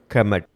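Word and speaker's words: Kemet: இதனுடைய உச்சரிப்பு கெமட், அதாவது கருப்பு நிலம் அப்படின்னு அர்த்தம்.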